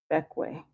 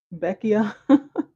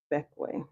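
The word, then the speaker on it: Bequia: It's pronounced Beckway. Okay, I botched it. What I say? Beckia. So funny. Beckia. Beckway. Yeah, I've never heard of that.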